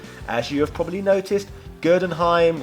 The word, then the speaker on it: Gerdenheim: As you have probably noticed, Gerdenheim rhymes with Frankenstein, so as a result is pretty much the same character who features the same backstory.